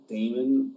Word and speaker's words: Daymond: My name is spelled Daymond Raymond, but with a D.